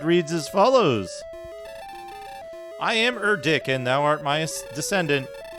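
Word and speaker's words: Erdrick: yeah erck is Granddad I'm pronouncing it wrong it's erck yeah stairs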